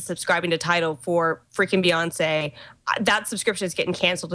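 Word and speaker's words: Beyoncé: They got the exclusive on Beyonce's, how do you pronounce that? Beyonce? Beyonce.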